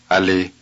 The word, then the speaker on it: allez: The vowels are short and clipped.